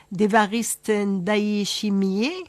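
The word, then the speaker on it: Évariste Ndayishimiye: Point fort Devarist Daimier le président actuel comment il s'appelle référence. Exactement. C'est ça. Vous l'avez bien prononcé.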